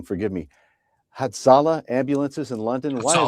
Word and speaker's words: Hatzolah: We're going to focus on this unprovoked burning of If I get the pronunciation wrong, forgive me. Hatzolah ambulances in London.